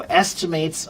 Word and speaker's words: estimate: So estimates are usually an est. There's two ways to pronounce it. One is the verb and one is the noun.